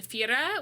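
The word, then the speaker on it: Thira: in santorini was in fira which is spelled t-h-i-r-a uh and fira so we went to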